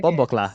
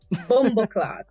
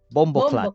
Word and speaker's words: Bomboclat: Is it Am I pronouncing it wrong, or is that just strange? N- No, you just pronouncing it wrong, but it's hilarious. Bomboclat. Bomboclad. Bomboclat. Clat. Bomboclad. Clat. Oh, there's a Clat. T at the end.